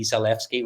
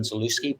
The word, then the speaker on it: Zalewski: It's just way is the W is pronounced as a V. So it' be Zfki rather than Zooi.